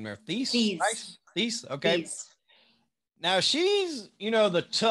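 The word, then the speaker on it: Theiss: How do you pronounce her last name there? Thies.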